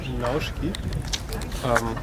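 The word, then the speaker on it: Наушки: Spricht man das W denn aus? Nauschki? Richtig, genau. Nauschki. An der Grenze von Russland zur Mongolei.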